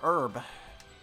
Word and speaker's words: herb: A herb. The H is silent for some reason.